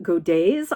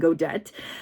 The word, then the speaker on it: godet: It is a skirt with what's called godets. I think it's spelled Godets, but I think it's probably French, so it's probably godet rather than godette.